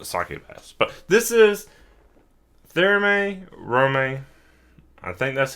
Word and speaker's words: Thermae Romae: But this is Thermae Romae. I think that's how you say it. I actually have no um idea. The Japanese pronunciation is Terumae Romae.